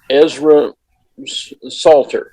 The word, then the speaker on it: Ezra Salter: a conversation and our guest today is um ezra salter is that the correct pronunciation yes oh good and they are here